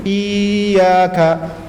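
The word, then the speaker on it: إِيَّاكَ: Dan di situ ada tasydid, maka harus ada nabr penekanan. Kalau nabr itu cara bacanya seperti apa? Antum lihat seperti kita ada orang bawa motor ya. Pas dekat di sini tahu-tahu suaranya naik. Gitu ya. Iyyaka. Ada menaikkan suara sedikit, ada penekanan sedikit.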